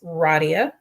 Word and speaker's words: Radia: I am, for those of you who don't know how to say my name, it's Radia.